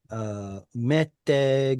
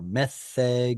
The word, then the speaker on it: meteg: Either meteg if you want to use the modern pronunciation, or metheg if you want to use an older pronunciation.